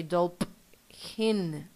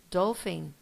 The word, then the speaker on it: dolphin: H together yeah and these two together sound like an F yes like an F dough thing do we don't say dope Hin no yeah we say dolphin phone photo and the